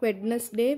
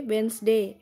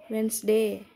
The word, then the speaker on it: Wednesday: Not Wednesday, Wednesday. Here D is silent. Wednesday.